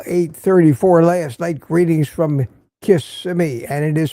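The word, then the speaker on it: Kissimmee: Greetings from Kissmi. And it is pronounced Kissmi, Florida.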